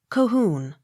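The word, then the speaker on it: Colquhoun: h o u n cahoon accent on last syllable c o n y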